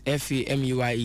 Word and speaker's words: Fameye: But the spellings of the family name is different from the stage name, even though the pronunciation is the same.